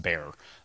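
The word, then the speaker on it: Bexar: Also, you may or may not know that our second release is pronounced bear, even though there's an X in the middle of it.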